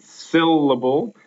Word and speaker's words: syllable: If you were to stress the middle syllable there, it would be syllable, which is something that my Latin teacher always stressed to us in high school. You put the accent on the wrong syllable.